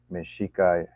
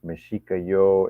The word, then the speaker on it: Mexicayotl: Some people I think they some people I heard say it's Mexicayotl, and some are saying Mexica, Mexicayot. I think it's actually Mexicayot. I think is the proper pronunciation.